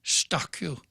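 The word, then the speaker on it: Eustaquio: before george his last name is spelled e-u-s-t-a-s-q-i-o pronounced giza guam stock you the the headline is letter stockyou should live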